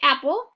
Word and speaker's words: apple: Mark out our P because we don't say apple, we say apple.